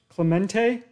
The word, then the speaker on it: Clemente: Clemente, Clemente. You know, it's because I'm thinking of David Clement. Clemente.